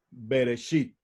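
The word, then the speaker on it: בראשית: Génesis en español pero en hebreo cómo lo pronunciamos beresit sin embargo berechit no significa Génesis berechit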